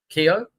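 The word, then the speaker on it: Keogh: I know it's Irish, but is it Ryan Kio? Kio Kio.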